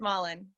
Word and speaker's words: Mullen: Is it Mullen? Is that how you say it? Yeah. Great. Can you hear me? Yeah. It's Mullen. That's it.